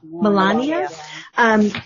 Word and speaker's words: Melania: Melania.